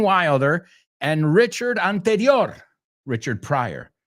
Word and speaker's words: Pryor: and Richard Anterior, Richard Pryor. Bueno, Pryor se escribe con I latina, pero se pronuncia igual.